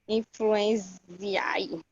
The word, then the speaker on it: influenzae: Influenzae. Influenza. Esse daí pronuncia como influenza.